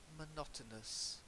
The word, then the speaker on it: monotonous: Monotonous. More or me? Good question. Is it a schwa? I say... A schwa word or not? Well, I say monotonous, so I use the schwa, okay?